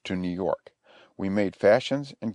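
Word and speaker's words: fascines: The fashions, pronounced fashions, are, as I said, bundles of brush bound snugly together, cut off straight at each end.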